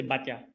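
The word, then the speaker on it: Baťa: So, for example, we have here Batya or Bata. So we say Batya.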